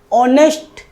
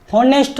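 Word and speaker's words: honest: आवर H silent रहता है our only hour okay so एन ऑनेस्ट होनेस्ट तो है नहीं है ऑनेस्ट तो इसमें यहां पर भी एज साइलेंट ऑनेस्ट ईमानदारी ईमानदार ओके ओके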